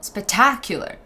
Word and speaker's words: spectacular: understand the example spectacular the strong syllable it's in the middle spectacular so if we would